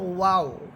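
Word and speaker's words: و: এরপর হচ্ছে ওয়াও, ওয়াও সের উই, ঠোঁট গোল করে পড়বেন, ওয়াও সের উই।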